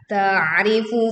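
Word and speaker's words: تَعْرِفُ: Di ayat ke-24, ta'rifu fi wujuhihim nazratan na'im. Perhatikan, ta'rifu fi. Tekan ain sukun dengan menyempitkan pita suaranya sehingga suara terdengar lebih berat.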